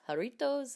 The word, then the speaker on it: Jarritos: get it straight one of the sodas is Jarritos and then one of the candies I was